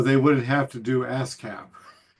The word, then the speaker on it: Haskap: In Quebec, they um they call it Camarice because uh they don't pronounce their hes. So, that would be ascap.